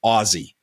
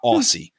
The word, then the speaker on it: Aussie: though it's spelled Ausse, the correct pronunciation for Americans is Aussie, like Ozzy Osbourne, not Aussie, Aussie.